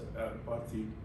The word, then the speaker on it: apartheid: You know slavery, you know what in South Africa, this apartheid, or do you spell the apartheid, apartheid, how do you pronounce it? Apartheid. Apartheid, okay. You know some of those things, you're aware of those.